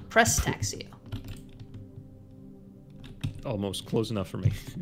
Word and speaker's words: Prestaxio: Pristaxio? No, Prestaxio.